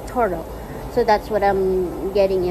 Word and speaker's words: Toradol: Pronounced Toradol. It's Toradol.